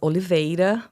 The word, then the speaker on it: Oliveira: my last name uh it's Oliva but yeah it's hard for Americans the are is is is tough so Dr always fine